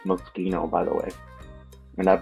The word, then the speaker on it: Moschino: It's Moschino, by the way.